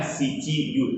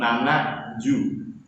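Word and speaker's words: 七十: Bukannya shichi ju, tapi nana ju.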